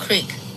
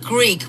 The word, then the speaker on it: Creek: actually two different language not Greek but creek like a like a creek that goes down the river so I long time